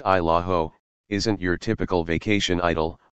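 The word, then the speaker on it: Isle au Haut: offering spotty cell service at best i'll oate pronounced isla ho isn't your typical vacation idol although a few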